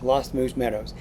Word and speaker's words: Lost Moose Meadows: email, and it's actually, I've been saying it wrong, it's the Lost Moose Meadows campground. Lost Moose Meadows.